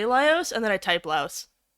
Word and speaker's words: Laios: Honestly, as an autistic wreck, I relate to Laos. Laios, yeah. I keep pronouncing it Laos, like Laos, like the country.